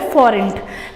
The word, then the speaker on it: forint: Hungary का capital है Budapest और इसकी जो करेंसी है वो है फॉरेंट। प्रोनाउंसिएशन में ध्यान दीजिए, FORINT, फॉरेंट।